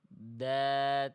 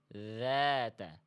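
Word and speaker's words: ذات: makhrajnya sudah sesuai tapi bunyinya beda antara data dengan dzata. Apa yang membedakan? Yang membedakan huruf dalal yang salah tadi itu nafasnya mampet. Nafasnya dia enggak mengalir. Eh, maaf. Suaranya mampet. suaranya enggak ngalir.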